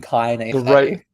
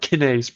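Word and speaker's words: kinase: No, it's Kynise. Kynes pronunciation, bro. In English. Let's get this. I was pronouncing it right, bro. Google Kynes, bro. It's not Kenise, bro.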